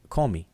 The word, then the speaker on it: Kemet: Okay, so, and at Kemet, they don't say Kemet. They say Komi.